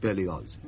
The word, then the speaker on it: Berlioz: I'm sorry, but the name is Berlioz. German in origin. The family has lived in Savoy for generations, of course, but it is pronounced Berlioz.